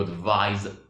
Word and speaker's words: advise: You advise someone. You advise someone. So for the noun, it is advice. But the verb, it is advise.